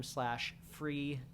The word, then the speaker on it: Freevee: So go watch Sprung on Amazon Prime /Freevee. I hate that name. It's so dumb. But go watch it. It's funny. I'd recommend it. It rhymes with TV.